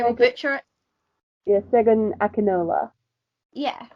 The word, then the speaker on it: Segun Akinola: Can you pronounce it, please? Because I will Segun, butcher it. yeah, Segun Akinola.